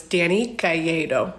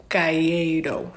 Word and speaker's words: Calleiro: No, it's Dani Calleiro. That's how you say it. Calleiro. Sometimes I say it wrong and I feel stupid, but it's a Cuban last name and I'm not actually Cuban, so that's why I'm confused.